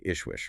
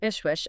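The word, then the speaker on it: JSCHWJSCH: Pronounced approximately Ishwish, right? Correct. Ishwish.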